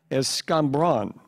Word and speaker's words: escambron: Am I saying it correctly? Escambron? Escambron, yes.